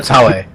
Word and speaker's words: Taue: On the 8th, we have Aki Bono, Tommaso Ciampa, and Akira Taugui. That's not even close, huh? Akira Taue. Taue.